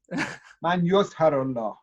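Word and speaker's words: Man Yuzhiruhu'llah: Well, slightly, you're very close, and this is most my fellow Iranians pronounce it this way, but it should be Man Yazharullah.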